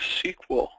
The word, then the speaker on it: SQL: these letters maybe you've wondered what they mean and how they're pronounced but they're SQL and that is pronounced SQL the Platinum sequel uh level includes odbc